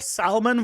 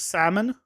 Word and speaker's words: salmon: salmon salmon sushi but there's salmon sushi and where you don't pronounce the l lol l at all